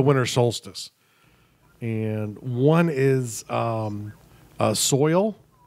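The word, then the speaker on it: Soyal: solstice and one is soil s o Y al like royal with an S and that was a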